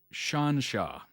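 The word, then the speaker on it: xianxia: drama is called a pronounced sort of like Shan sha okay pronounced Shan sha this style of drama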